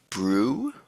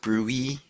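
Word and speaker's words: BRUE: I'm going to call it brew. Uh, some people call it brewy.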